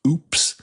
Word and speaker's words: Hoops: H O Ps, but it's pronounced oops.